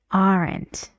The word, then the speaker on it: aren't: they make this sound when this letter is not silent can you find it in this sentence where it is not silent it has a sound we say aren't aren't they why because